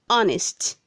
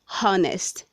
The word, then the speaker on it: honest: handkerchief word 199c honest say honest not honest the h is silent word 200 says hello